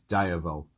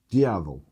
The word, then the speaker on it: Diavel: So it's known as the Lamborghini Ducati Diavel. I didn't want everybody to, you don't pronounce it like that, Baz, it's Diavel. Diavel.